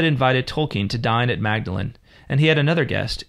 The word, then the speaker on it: Magdalen: Although I will point out, it's Magdalen. It's spelt Magdalen, but it's pronounced Magdalen College. Magdalen, okay.